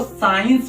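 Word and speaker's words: science: हमेशा याद रखना है कि आईई के पहले अगर सी आएगा तो क्या होगा सी होगा जो व पढ़ा ही नहीं जाएगा बोला ही नहीं जाएगा सी साइलेंट होगा तो इसको साइंस पढ़ेंगे इसको सी सर्स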